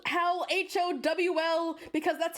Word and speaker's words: Howl: Sophie hears it, but it's howl. Like like his name is Howl. Like that. It's not how like like a wolf howls at the moon.